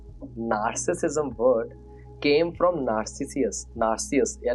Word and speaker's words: Narcissus: Narcus. Yeah, Narcissus. This is the way they pronounce this name which was given like this